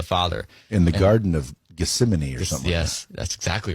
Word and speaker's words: Gethsemane: talking to the father in the garden of gethsemane or something yes that's exactly right great pronunciation and so jesus actually said in his